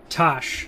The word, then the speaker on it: Tash: roman roman's assistant or tash pronounced cash just okay is that